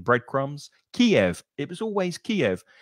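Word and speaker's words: Kyiv: It was always Kiev. Suddenly, it's now pronounced on the news Kiev with just 1 syllable.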